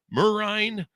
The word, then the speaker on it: Merijn: We have Merijn on the show with us.